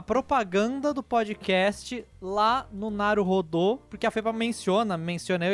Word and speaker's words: Naruhodô: Não é o rodo da sua, que você puxa a água do banheiro, é rodô, você fica rodando, aí a pessoa que rodou é o Naruhodô, tá bom?